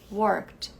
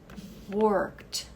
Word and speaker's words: worked: eu digo work Então por causa disso esse e cai na pronúncia e esse D vira bem forte worked worked I worked Yesterday eu